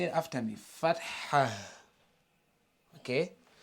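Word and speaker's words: فتحة: So as you can see, there is H at the end. But does that mean that we're going to pronounce it as Fatha? No, not Fatha. Because in English, we don't have the heavy, H.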